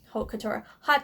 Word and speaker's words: Haute Couture: I used the shade Haute Couture Haute Couture hot chocolate um it's spelled